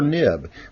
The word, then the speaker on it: xib: have a zip extension this is pronounced either zib or nib but it's an xml